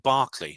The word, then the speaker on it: Berkeley: College in California, Berkeley UCL, I want to pronounce it Barclay because I'm used to these sorts of pronunciations.